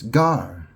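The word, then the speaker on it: gare: And in France, they call, you know, it's Gar. It's spelled G A R E.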